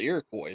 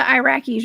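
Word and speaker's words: Iroquois: So, um, that could be a good possibility that they ran into the Irakcoy as well. Not the Iraqis, y'all. That's what I was trying to say there. And that's the Irakcoy.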